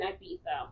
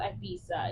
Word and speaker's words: Ibiza: He's the leader of the mafia in Ibiza, right? It's not Ibiza.